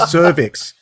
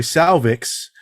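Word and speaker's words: Sauvix: on slightly faster speed so it sounded like cervix all the way through it's actually salvix and I always thought that salvix had an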